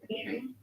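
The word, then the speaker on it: אחים: Aim. A C H I M A.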